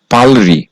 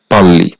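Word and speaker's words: 빨리: এরপরে আবার রিউল আছে এর উচ্চারণ হওয়ার কথা ছিল পালরি কিন্তু বাচ্চিমের রুলস অনুযায়ী যেহেতু বাচ্চিমের রিউলের পরে রিউল আসলে দুইটা মিলে ল হবে এজন্য বাদসিমের রুলস অনুযায়ী এর সঠিক উচ্চারণ হবে পাল্লি পাঁচ নাম্বার রুলস রিউল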